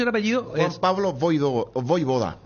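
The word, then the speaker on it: Vojvoda: Juan Pablo Voivoda. A la J como I.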